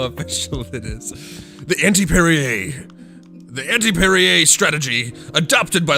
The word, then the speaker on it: Perrier: the bubbling waters uh perrier is perrier perrier however you want to say it i believe it's called perrier because it's another french one it doesn't you don't pronounce the r but whatever you want